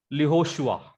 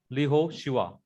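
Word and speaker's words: לִיהוֹשֻׁעַ: This vocal Shiva will be this consonantal value of this Yod will be lost, and it will become long Hirek Yod. Getting? So the pronunciation will be Lihoshua. Lihoshua.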